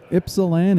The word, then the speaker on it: Ypsilanti: Ypsilanti. Oh, The Y is silent.